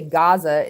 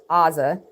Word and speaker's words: Gaza: There's still two distinct letters, but that's why we say Gaza instead of saying Aza, because even though it's spelled with an ayin, we pronounce it with a gayin.